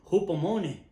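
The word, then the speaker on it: ὑπομονή: es una palabra que se pronuncia algo así como hupomone, y que es un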